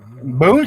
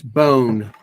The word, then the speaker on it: Boone: That's bone. Yeah, bone, not boon, bone.